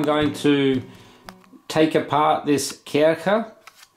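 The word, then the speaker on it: Kärcher: to take apart this Kirika it's called a care cup because it's in German see those two dots above the a and CH is just pronounced as kind of a so kicker or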